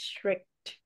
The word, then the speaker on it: strict: this correctly so it's strict remember remember this this word it has a t sound at the end so it strict strict